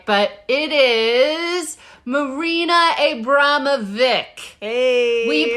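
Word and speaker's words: Abramović: Oh my God, I had to listen to it like 30 times to get it right, but it is Marina Abramovic. Hey. We pronounced it wrong every time.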